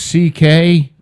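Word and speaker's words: Székely: It's pronounced C.K., right, but so he just did C.K.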